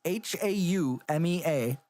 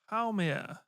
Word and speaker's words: Haumea: Make, and I'm going to pronounce the next one so fucking horribly wrong. It's Haumea. Haume? Like, how may I help you? Haumea.